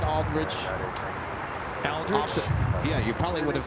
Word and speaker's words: Aldridge: name and that's how I knew how to pronounce Aldridge correctly huh thanks to Jane Aldrich oh there